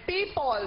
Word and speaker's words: people: Kaya ang tamang bigkas po ay people dahil ang titik na po yun ay letrang pa, titik pa, people, ha?